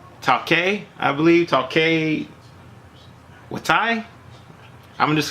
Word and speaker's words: Taika Waititi: You know, of course, the actual director, which I can't really pronounce his name, Taika, I believe, Taika Waititi. I'm just saying Taika Waititi.